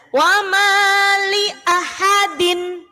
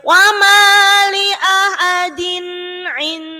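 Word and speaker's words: وما لأحد: Jadi bukan lia tapi li'ah. Wama li'ah. Nah, pendek ya. Wama li'ahadin. Wama li'ahadin. Nah, di situ ada kasroh tanwin bertemu ain enggak boleh dengung. Jadi jangan bacanya enggak boleh wama li'ahadin in. Nah, kesuwen. Wama li'ahadin in. Baru ainnya baru dengung. Din ain yang pertama izhar dibaca jelas, kemudian yang kedua baru idgham dibaca dengung.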